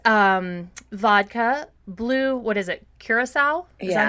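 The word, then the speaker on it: Curaçao: Well, all this is vodka, blue, what is it, Curacao? Is that how you say it? Yeah. Curacao and Sprite.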